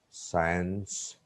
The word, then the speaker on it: science: Number 3, C is silent after S and before E or I. Sin, sent. We can't say skin or skinned. Sin, sent, science, scissors, fascinate, descent, and ascent. The fifth trick, D is